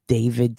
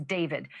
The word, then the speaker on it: D4VD: That fact has got to be hitting home tonight, literally for the singer known professionally as David, spelled D4 VD. I know it's strange, but it's pronounced David.